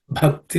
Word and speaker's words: Bhakti: The Bha is aspirated consonant. The fourth letter or fourth consonant in the Pa Varga. It has to be aspirated. So it has to be pronounced as Bha. Okay.